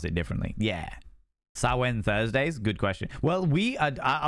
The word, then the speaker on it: Samhain: Sawen, that's the one. Thank you very much, friends. I appreciate it. Sawen. People pronounce it differently. Yeah. Samhain Thursdays?